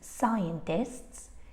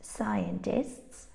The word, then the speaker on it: scientists: And all these words have a silent C. It's very common to find a silent C when it appears after an S, because they are both sibilant sounds, and it's like the